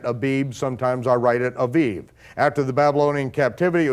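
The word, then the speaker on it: אביב: In Hebrew, it would be pronounced Aviv. And so you'll see that sometimes I write it AIB, sometimes I write it Aviv.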